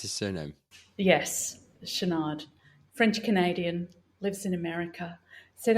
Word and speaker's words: Chouinard: How do you pronounce his surname? Yes, Chouinard.